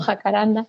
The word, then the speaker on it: Jacaranda: I pronounce it the Spanish way for Jacaranda.